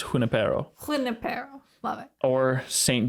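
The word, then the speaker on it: Junípero: So I'm going to be honest, every time I've read it to myself in my head while I was preparing this, I've always said Junipero in my head. It is spelled with a J, but it's Junipero.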